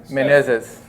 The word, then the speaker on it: Menezes: So Eli Menezes. Exactly, exactly. That's how you pronounce it.